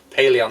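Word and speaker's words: Pellaeon: Pelona? Paleon? Paleon, that's how you say it.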